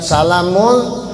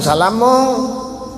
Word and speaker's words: salamun: Cuman membacanya jangan salah. Jangan salamung. Tidak ada salamung dalam Al-Quran, tidak ada salamung ya, dibaca salamung kalau jangan ya. Itu ikhfa hukumnya.